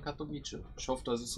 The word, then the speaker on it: Katowice: Deswegen wird es nicht Katowice ausgesprochen, sondern Katowice.